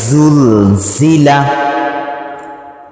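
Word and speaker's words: ذال: পরেরটা হলো নরম হ্যাঁ চার আলিফ পরিমাণ টান জাল নরম কিভাবে উচ্চারণ করতে বলছিলাম সামনে জিহ্বার আগা সামনের উপরে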